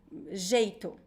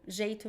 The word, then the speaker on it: jeito: You have to pronounce one example, the J in Portuguese is not J, it's J. So the sound is J. If you pronounce H, like if you pronounce the word, I don't know, the word jeito. Jeito means a way, or a way of doing things. Jeito. If you pronounce jeito, people will not understand at all.